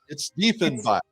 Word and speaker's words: Diefenbach: Lynn, pronounce it correctly for me. It's Diefenbach.